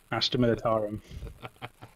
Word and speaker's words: Astra Militarum: You always used to pronounce that correctly. Astra Militarum.